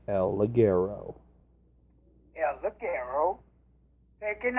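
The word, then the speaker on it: El Ligero: it's say it right say it right it's el Leggero yes look arrow they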